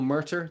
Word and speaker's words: Murtagh: do you spell that gh at the end that is tricky at least for me